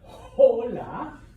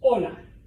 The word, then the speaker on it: hola: sign all right uh if you see H in Spanish don't pronounce it it is completely silent all right that is why what is 8 it's not hola okay I know right